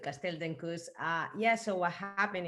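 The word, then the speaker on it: Castell d'Encus: the early people at castell diankus and again please correct my pronunciation here that's uh that's totally good castell dencous uh yeah so what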